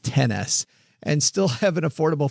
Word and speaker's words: iPhone XS: Uh I think they want that pronounced 10S and still have an affordable phone bill.